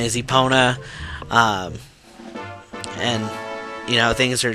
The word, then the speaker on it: Epona: I usually pronounce it just Russell. Epona is Epona.